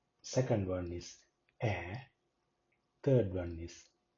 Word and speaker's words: Ä: Second one is Ä. Ä. How it sounds? It sounds as English cat. So it is not A, it is Ä. Cat. Or hand, the pronunciation Ä. Ä.